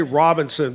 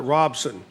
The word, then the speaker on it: Robinson: Robinson but you know you say Robinson but locals call it Robson I live in Robson